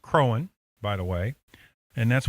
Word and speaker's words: Croghan: Colonel George Croghan, and his name is pronounced Crowan, by the way, and that's one reason why this was not named Croghansville, because the GH is silent and no one would say Crowan.